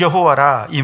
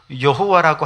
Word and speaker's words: 여호와: 하는데 발음을 못하잖아요 그래서 아도나이 하는이 단어에서 모음만 가지고 와가지고 발음해 보니 여호와 혹은 야회 뭐 이렇게 이름을 부르게 되었다는 것이죠 이게 정확한 이름인지도